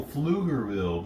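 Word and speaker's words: Pflugerville: Oh, Flugerville. There's an L there. I didn't see. It's spelled P F L U.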